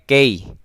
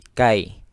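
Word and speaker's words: كيف: lagi menthobi kita lanjut Kai ini lain hati-hati jangan sampai key tapi Kai ya karena akan berbeda nanti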